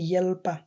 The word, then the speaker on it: hjälpa: এখানে একটু লক্ষ্য করবেন, এটাকে হেল্পা বলবে না, এইচটাকে উজ্জ্ব থাকবে, এইচটাকে ঠিকমতো উচ্চারণ হবে না, সেটা হবে ইয়েলপা, অনেকটা রস্য ইয়েলপা।